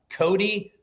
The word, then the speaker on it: Kohdi: Cody, but it's spelled Koh. I put it in. I'll just post it up top here. Kohdi Rin.